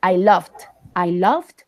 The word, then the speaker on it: loved: All right, this last sentence, I love, you have to pronounce the ET like the ED as a T, okay? So we can know that you are speaking in past. So you have to say, I loved the old street and buildings, okay?